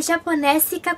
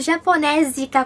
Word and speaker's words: Japonésica: Então, o nome do canal é Japonésica com 2 S, mas teve um tempo que eu tava pronunciando Japonésica com som de Z, porque eu achava estranho.